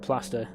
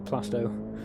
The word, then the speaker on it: Plasto: and Pete as well keeps calling Pete plaster instead of plasto oh I've well I've